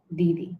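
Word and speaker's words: দিদি: Didi. So hope that's clear. Do not confuse yourself by thinking that because E is coming first visually in the spelling, you have to pronounce this as id.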